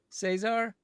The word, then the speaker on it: Cesar: wait, how's he preferred said? Caesar. Cesar? Okay. Like laser.